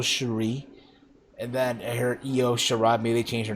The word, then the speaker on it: Io Shirai: I talked about this earlier on the NXT review this past Wednesday, where apparently I mispronounced Io Shirai. I said Lo Shirai, but it's Io Shirai.